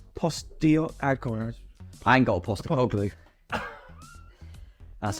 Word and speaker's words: Postecoglou: I ain't got a Postecoglou. That's how you pronounce that, yeah.